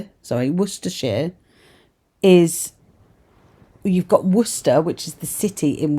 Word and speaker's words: Worcester: Worershere is you've got Worcester which is the city in Worershere.